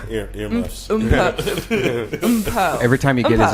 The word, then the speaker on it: Mpho: Really, my name is pronounced Mpho, but I'm not even going.